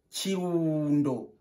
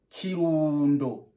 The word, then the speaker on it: Kirundo: On prononce Kirundo. Répète avec moi. Kirundo.